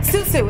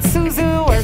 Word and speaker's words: SUSU: it's actually very easy you say it just like that susu it's not suzu and when you spell